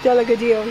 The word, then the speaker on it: Delgadillo: Angel Delgadillo, I believe is how you say it. Delgadillo, yes.